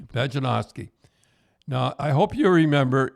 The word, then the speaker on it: Pejcinovski: Now, how do you pronounce that name, Tim? Pejcinovski. Pejcinovski.